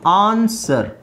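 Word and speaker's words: answer: ಇನ್ನೆಲ್ಲಿ ಸೈಲೆಂಟ್ ಆಗುತ್ತೆ ನೋಡಿ ಆನ್ಸರ್ ಆನ್ಸರ್ ಅಲ್ಲಿ ಸೈಲೆಂಟ್ ಆಗುತ್ತೆ ಡಬ್ಲ್ಯೂ ನೇ ಹೇಳೋ ಹಂಗಿಲ್ಲ ಆನ್ಸರ್ ಅಲ್ಲ ಆನ್ಸರ್ ಸೊ ಇಲ್ಲಿ ಹಾಕದೆ ಇದ್ರು ಎನ್ ಎಸ್ ಇ ಆರ್ ಆನ್ಸರ್ ಆನ್ಸರ್ ಅದು ಬಟ್ ಡಬ್ಲ್ಯೂ ಹಾಕಿದ್ರೆ ಮಾತ್ರ ಅದು ಆನ್ಸರ್ ಅಂತ ಆಗೋದು ಇದು ಸೋರ್ಡ್ ಎಸ್ ಡಬ್ಲ್ಯೂ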